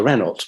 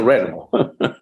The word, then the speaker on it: Renault: We used to call it a Renault because that's how it was spelled. But now we know how to pronounce it in French. It was a Renault.